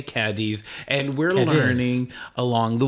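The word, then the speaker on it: Cádiz: Now, Cadiz Notice how I said that? Yes, you said it pronouncing correct. Most people say Cadiz, and we're learning along the way on how to pronounce the correct term.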